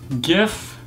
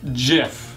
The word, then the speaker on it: GIF: jiff rather than gif it's a hard G not a soft G and my biggest one